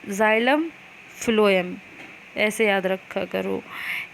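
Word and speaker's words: phloem: क्यों करते हैं, जाइलम फ्लोएम ऐसे याद रखा करो कि फ्लोएम मतलब क्या हुआ, एफ से इसको एफ मान लो, प्रोनाउंस करने में एफ आता, वैसे स्पेलिंग पीएच से होती।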